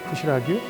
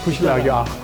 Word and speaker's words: खुसी लाग्यो: Is it right pronunciation? Better right? Better Kushalagyo. खुसी लाग्यो Kushalagyo.